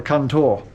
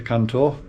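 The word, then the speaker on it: Cần Thơ: from Hat Yen to Cantor, and I know I've been given the proper way to say Cantor as well. I think it's Gunton.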